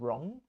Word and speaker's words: wrong: you have R after a w you don't pronounce the W so right and wrong should of right and wrong WR right but